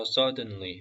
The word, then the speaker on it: suddenly: opened and they suddenly 이 단어는 빨리 읽을 때는 이 D 발음이 살짝 무음이에요. suddenly felt shame. 근데 저기 디귿 발음 살짝 넣으셔도 됩니다. 무음으로 하셔도 괜찮고 이게 어려우시면은 디귿 발음 살짝 넣으셔서 suddenly 하셔도 돼요.